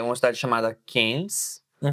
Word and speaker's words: Cairns: Que é uma cidade chamada Cairns. Né? Cairns. Mas se escreve C-A-I-R-N-S. Ok.